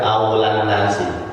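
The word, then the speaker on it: أولى الناس: sallallahu ala Nabi Muhammad, aulan nasi, itu bacanya aulan nasi.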